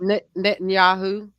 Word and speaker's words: Netanyahu: Netanyahu.